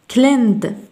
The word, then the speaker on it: cleaned: cleaned نضيف هنا y stayed قلنا ثم cleaned cleaned وكأن الإي غير موجودة لا تنطق cleaned stayed stayed.